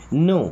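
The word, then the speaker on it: know: नो, देखिए यहाँ पे के और डब्ल्यू साइड, नो का मतलब होता है जानना।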